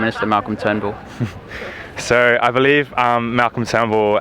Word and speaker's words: Turnbull: bit more than Malcolm Turnbull. The US press recently mispronounced Malcolm Turnbull's name to Malcolm Trumbull.